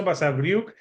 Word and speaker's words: Basavriuk: And that's just Basavriuk.